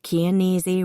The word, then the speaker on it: Chianese: Gail Chianese rhymes with easy was pregnant.